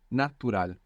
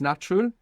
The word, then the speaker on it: natural: a u is like natural very good and the accent on the end as well it's natural it's natural isal if